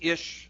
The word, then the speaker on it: Ish: And why I say believe it or not, because Ish, of course, rhymes with fish, and that's his area of expertise, fishing.